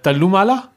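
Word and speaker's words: Thallumaala: a note of it do not pronounce the h i I tried to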